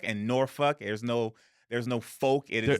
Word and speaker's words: Norfolk: And then, yeah, if you know Virginia, Portsmouth, Newport News, it's pronounced Suffolk and Norfolk.